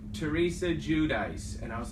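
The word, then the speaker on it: Giudice: I'm trusting the pronunciation that Patrick uses. Judice. Correct. Which I actually got from Teresa on Watch What Happens Live when they asked her, and she Yeah. said, well, it's really pronounced Judice.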